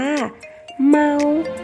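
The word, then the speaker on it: 猫: รอบ นึง นะ คะ แมว ภาษา จีน ออก เสียง ว่า เมา แมว เด็ก ๆ ขา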